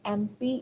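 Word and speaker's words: MP: एम एम जब हम बोलते हैं तो उससे पहले आ साउंड जो है उसके साउंड लेवल पे कंसीडर होती है। एंड एम पी is invited for इन एक्यूरेशन।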